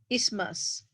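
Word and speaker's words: isthmus: refer to as uterine ismas the th is silent uterine is mass and what stays below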